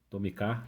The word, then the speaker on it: Tomica: Tem uma versão desse carro da Tomica, Tomicar, né? É assim que seria a pronúncia em japonês.